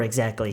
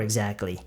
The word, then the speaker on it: exactly: I can't remember exactly. I can't remember exactly. 그리고 여러분이 exactly라는 단어를 발음하실 때는요. 그냥 T를 어느 정도 약간 무시를 해버리고요. C 부분을 쌍기역 발음으로 하시는 게 가장 자연스럽고 쉬운 방법이에요.